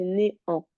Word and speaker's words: néant: néant, C'est pas né néant, un, c'est néant. néant. Tu sais ce que ça veut dire? Non, Ça veut dire rien. Plus rien. Le néant, le vide.